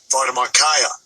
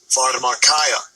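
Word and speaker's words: φαρμακεία: word sorcery strong g father markaya father markaya yeah so that would be the pronunciation in the greek for that word sorcery formula kaya which that word actually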